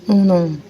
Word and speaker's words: uno: अब देखो दोनों में कितना डिफरेंस है, और सेम इसी तरह से जो है इनके प्रोनाउंसिएशन में भी डिफरेंस है। इटालियन में 1 को कहते हैं उनो, और कोरियन में 1 को कहते हैं जैसे